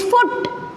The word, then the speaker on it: foot: This one, it is foot. Quick pronunciation of oo.